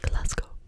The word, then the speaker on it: Glasgow: our hotel room in Glasgow Glasgow GL that's kind of a tricker word trigger word in it's glco is how you saying it it's Scotland we're in